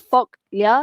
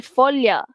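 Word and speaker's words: foglia: Okey, dia bukan folkia tapi folia.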